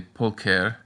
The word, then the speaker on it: pulcher: If you can manage that, congratulations, but it seems like most people just pronounce them as k, t, and p. So you can say pulcher, theatrum, and ampora.